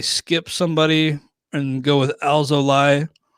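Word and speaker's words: Alzolay: somebody and go with alzolai uh alzolai i think is the correct pronunciation i'll look that up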